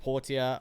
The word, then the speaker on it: Portia: um my time at Portia or Porsche depending on how you want to pronounce it I know those I